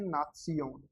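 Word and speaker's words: Nation: अपन ये देखते हैं नात्सियोन, एन का न, इसको काटिए, न, ए का आ ना, सियोन, ना सियोन। लेकिन इसमें एक बारीकी वाली बात यह है कि यहाँ पे आदत्ते भी आता है, नात्सियोन।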